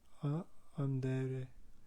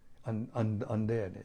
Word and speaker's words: andare: I don't know how to pronounce it, but it's spelled Mangiare. Mangiare. Mangiare. And? Andere. Andare.